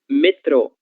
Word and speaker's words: metrô: Metrô, certo? Vejam, metrô também apresenta um acento gráfico na sílaba tro, certo? E nesse caso, ele vai indicar que a sílaba tônica é essa, a sílaba tro, que é a mesma coisa que metro, certo?